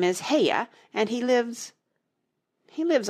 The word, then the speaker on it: Haigha: His name is Heia." He pronounced it so as to rhyme with mayor.